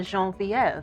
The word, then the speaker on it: Genevieve: Genevieve Williams is here with us today, but as I like to call her, Genevieve, because I prefer the French pronunciation.